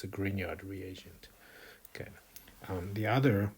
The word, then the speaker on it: Grignard: His name is I believe is pronounced Greenyard. Um often like uh undergrad oak students that who are not might not be paying attention might pronounce this Greek nard or something like that but it's a gineyard reagent.